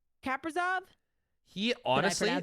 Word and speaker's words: Kaprizov: Kaprizov. He honestly. Did I pronounce that right?